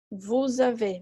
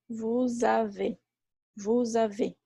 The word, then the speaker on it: vous avez: Vous avez, mesmo caso. Vous avez. Esse Z é mudo.